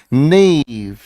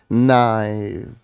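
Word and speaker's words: naïve: इंसान को हम क्या कहते हैं भोला भाला नेव स्पेलिंग को ध्यान से देखेंगे स्पेलिंग क्या है एन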